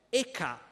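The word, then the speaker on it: Eka: vini aveva un soprannome eca che sarebbe la pronuncia tedesca delle sue iniziali e k ve lo dico perché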